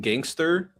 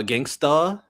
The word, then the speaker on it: Gangsta: Uh a good example is in Gangster uh Gangsta to say it properly.